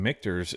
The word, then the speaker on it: Michter's: The first time Michael has, on the first try, gotten Michter's announced and pronounced correctly.